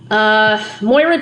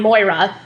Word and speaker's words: Moira: Moira Chisholm, that's the person Kate was talking to in the flashback. She's a person of interest, so I'm going to have to find Moira.